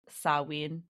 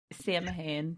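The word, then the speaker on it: Samhain: It originally started out as a Celtic celebration called Sawin. I think I've heard that before. Yeah. Sam called Sam Hayne, but it's pronounced saw.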